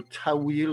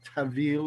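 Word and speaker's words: ta'wil: could do tafsir exegesis or tawil or tavil if you pronounce it like in persian you had to know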